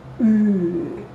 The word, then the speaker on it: Ü: double dots on it, is best to say U, like in boom, U, keeping the mouth in this shape of U, but say E, like in feet. So mouth of U, but saying E.